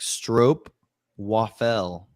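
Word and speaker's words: stroopwafel: It rhymes with rope. Yeah, best ball saw. I thought it was yeah. It's actually like strope waffle.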